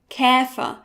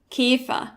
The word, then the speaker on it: Käfer: Let's begin with the ä, found in words like Ärger, Käfer, or Hängemattenverankerung. Many Germans, including me, pronounce it as e, like in Esel, but try to listen to the difference. Ärger, Käfer, Hängemattenverankerung. Ärger, Käfer, Hängemattenverankerung.